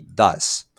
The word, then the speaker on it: does: Como si nosotros tuviéramos una S acá al final, y does. ¿Sí? Cuando tengo la terminación ES acá, voy a agregar, voy a pronunciarlo como si tuviera una D, una A y una S. Does.